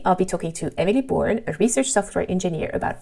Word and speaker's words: Bourne: Emily Bourne. Oh yes. Yes, like Jason Bourne.